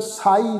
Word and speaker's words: साई: सस्से नूं कन्ना ऊपर बिंदी लगा के पाठ उच्चारण नहीं करना, क्योंकि सत्संग की गल